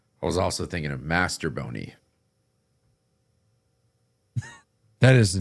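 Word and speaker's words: Mastrobuoni: It's like Mastro Boney, but yeah. Mastro Boney. My nose is stuffed. That's all. Yeah. That's it. Baseball Reference does not have a Master. Yeah, no, it's not Master Boney.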